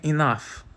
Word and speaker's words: enough: Mas e quando o GH tem som de f, como é enough ou rough?